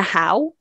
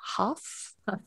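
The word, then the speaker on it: Hough: wrong i think it's juliana howe julianna huff juliana yes is it huff okay good i knew i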